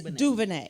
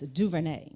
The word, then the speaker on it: DuVernay: It's Duvernay. You have to say it like this, Duvernay.